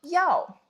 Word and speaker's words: 药: Pronunciation is like this, fourth tone. So 药, it means medicine, but it means like the one that we take, the pills, the thing to cure ourselves.